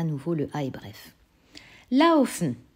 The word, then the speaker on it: laufen: Laufen. Tu entends AO, qui s'écrit A et OU, forcément.